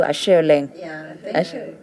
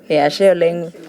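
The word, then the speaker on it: Ashe oleng: I know Asheoleng. Asheoleng. Yeah, it means thank you so much.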